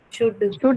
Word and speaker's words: should: the sound in should the word should have a small short vowel sound right then it shows that there is double O and Y some short vowel Google Translation tells you this double o n should yes ma'am that is wrong then don't follow the Google translate there's only one vowel sound and it's a short ooh Institute okay okay yeah